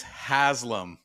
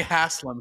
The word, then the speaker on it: Haslam: pronouncing Alani right Derek my last name is Haslam you've been calling me Hassam since we met wait H you